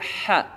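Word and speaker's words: ح: Kemudian yang kedua hurufnya tengah tenggorokan ini adalah huruf ha. Huruf ha. Ha, hi, hu, bah. Ya. Huruf ha bukan dari lidah bagian belakang. Ya. Ada orang membaca huruf ha dengan bacaan huruf ka.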